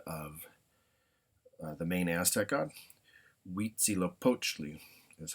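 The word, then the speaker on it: Huitzilopochtli: So uh one word I will do here to finish the slide is uh the the god of uh the main Aztec godzy poachi is how you would say that.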